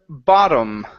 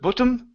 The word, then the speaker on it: bottom: let's go to uh the word bottom instead of bom it's ba bottom bottom bottom okay very